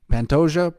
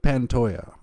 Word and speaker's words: Pantoja: Alexandria the cannibal panto Pantoja pantoya Pantoja pantoya I pronounce it both I don't know either